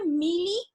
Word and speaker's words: Mealy: আপনারা এখানে নামটা দেখতে পারতেছেন হয়তো বা, আপনাদের প্রোনাউন্সিয়েশনটা হবে মিলি and more machine, মিলি machine and more machine.